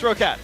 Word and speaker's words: Rocket: Oh, yeah, it's like Yeti's Mala's team or something. Yeah. Yeah. But it's Rocat.